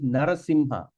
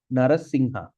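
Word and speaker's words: narasiṁha: we pull the Raga M with the dot on top we're going to pronounce on the nose all right say like for instance narasimha narasimha so when you see when you see the word narim the M will have a DOT there so we can pronounce it narasimha at the same you also can pronounce narasingha all right so like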